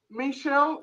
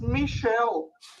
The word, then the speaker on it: Michel: I was saying to you, Michel is a French name, and it's Michel, not Michel.